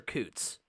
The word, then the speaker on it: Counts: Is it Counts or Coots? This is Indiana. It's probably Counts, right? Yeah, it's pronounced the way it looks.